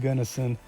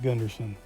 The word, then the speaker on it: Gunnison: myself before anybody else does say it is pronounced Gunnison not Gunderson and as far as wheelchair accessibility Goes Black